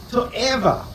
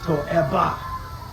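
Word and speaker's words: תועבה: So the word that's translated as abhorrence or abomination in English, in Hebrew actually is a word called to'eva, or depending on your pronunciation, to'eba.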